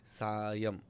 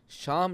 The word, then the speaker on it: सायम: देख रहे हैं प्रोग्राम मेरा नाम सायम है। सायम श्याम नहीं साईं राम नहीं सलीम नहीं सायम है।